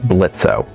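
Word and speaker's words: Blitzø: them now let's make blitzo oh is silent now treadmarks come in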